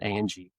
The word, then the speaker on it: Ange: So well, your last name, Ange, So it's really, we pronounce it Angie.